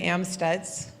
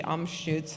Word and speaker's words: Amstutz: name is Reverend amads of course we say it wrong it should be AMS I suppose I use the pronoun